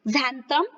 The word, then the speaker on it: xanthan: तो बच्चों यहाँ पर देखिए, व्हाट इज xanthan गम, ठीक है, इसका प्रोनाउंसिएशन क्या होगा, xanthan गम, xanthan गोंद इसको कहेंगे।